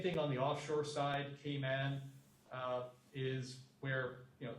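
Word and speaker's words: Cayman: by the way yes they actually pronounce it in kayman they actually say kayman so I'm not sure if it'll impress people or not but they don't say Cay but everybody says it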